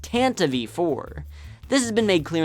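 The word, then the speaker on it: Tantive IV: it incorrectly all my life I used to pronounce it ton 4 but this isn't the only incorrect pronunciation I've heard tonti tan tonti and tantive but none of them are right this vehicle is pronounced Tanta V4 this has been made clear in the 1981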